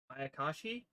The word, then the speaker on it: Mayakashi: fallen available support and new um ayakashi i think is how it's pronounced it's a zom it's